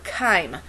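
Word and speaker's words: chyme: that food down into a liquid solution called Kime it's spelled CH H ym Kime is an isotonic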